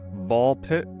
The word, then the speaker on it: BALL x PIT: Ball pit. The X is silent.